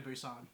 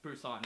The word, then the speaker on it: Busan: is just my opinion, but the little girl in Train to Busan has to be like one of the best child actors Honestly, I've seen.